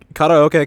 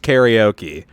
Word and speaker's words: karaoke: Karaoke controls. It's not pronounced karaoke. Don't say it that way. It's stupid. Not to be a weeb about it, but it is very dumb to pronounce this word karaoke.